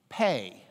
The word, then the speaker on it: pe: Pay, pay, pay.